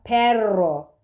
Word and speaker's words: perro: yine bunları ayrı göreceğiz ve çift olarak okunuyorsa titre dil ucunu titerek çıkan bir r sesi. Diğer durumda aynen Türkçedeki gibi. Roho bakın burada perro. Perro gibi.